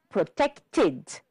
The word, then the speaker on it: protected: And the last one, protected. And this time the ED is heard it, so we have 3 syllables. Protected.